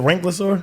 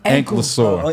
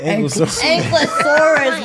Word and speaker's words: Ankylosaurus: Do y'all know how to spell that Yeah, shit? he said Ranklosaur? Ankylosaur. Ankylosaurus, bro.